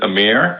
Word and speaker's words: Amir: wrong okay well yeah in the West it's mostly pronounced as a mirror okay the exact vernacular pronunciation would be on it that's how which yeah it's a little difficult to tongue that for most people out here so Amir Amir works okay Amir great actually